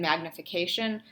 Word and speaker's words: magnification: So I know that in magnification that there's the biggest stress is on the K syllable, but there's also a little bit of stress on mag.